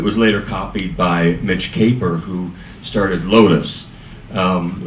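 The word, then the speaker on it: Kapor: It was later copied by Mitch Caper who started Lotus. Um a lot of people think his name is pronounced Capor, but it's not. It's Caper.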